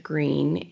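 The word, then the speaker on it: Gruene: But I saw the water tower that said Green, and I thought that was kind of interesting. Green isn't spelled like the name, and it's a German name.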